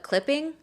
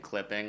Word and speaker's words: CLPPNG: And I listened to that and it's spelled CLPPNG, I think, no I. Yeah, it's like the Screen Actors Guild. Some other buddy like totally came up with that. Just probably some folk artist named Clipping, like Gene Clipping.